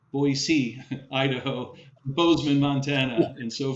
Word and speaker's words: Boise: the Salt Lake City the Boise Boise I'm I'm told to pronounce it correctly Boise Idaho Boseman Montana and